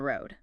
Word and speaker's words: road: Just like the stop T, the final D in a word like road, especially at the end of thought group, is often stopped. So, not a big release like road. Duh. Exactly. Your tongue goes to the D position, but you don't really push the air out strongly. Just a soft stop.